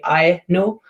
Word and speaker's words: Aino: the trouble is that my name is not danish it's finnish so um the algorithm would cut my name into two uh would not cut my name into two syllables my name should be i know but because it would cut it into three syllables instead so ah no so it